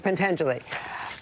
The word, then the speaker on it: Pentangeli: I did mispronounce it. It's Pentangeli.